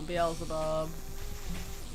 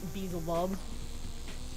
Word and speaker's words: Beelzebub: like lilith you know beelzebub or how people sometimes pronounce it bezel bub that drives me insane it drives me insane